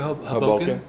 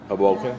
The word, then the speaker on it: Hoboken: You're a you guys are a second syllable. I'm a first syllable.